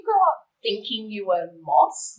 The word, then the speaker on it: Mos: So did you grow up thinking you were Mos? Not- How do you say? Modt. Modt.